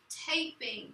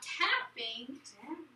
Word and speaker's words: taping: So this word is actually taping. What word? Taping. Okay, not tapping.